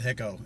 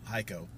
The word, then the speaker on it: Hico: him from hico texas which i thought was called hicko until today when i learned it's called haiko you can do no